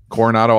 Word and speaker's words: Coronado: You can throw it past the corona. How do you say that? Corona? Oh man, you probably think it's La Jolla too. No, Coronado Islands.